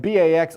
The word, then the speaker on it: Bax: letters as well and Bax also rhymes with axe so backx is giving